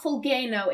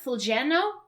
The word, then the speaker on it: Fulgeno: diplomat between kingful i that's not pronounced like a g it's not fulgano it's like fulgeno i i don't speak